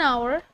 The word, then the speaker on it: hour: held upon for an hour that is 1 hour just like first article class I have told you that the letter letter H is silent and we have to